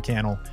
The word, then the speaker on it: Cannell: the think media podcast my name is Sean Cannell rhymes with YouTube channel and I look forward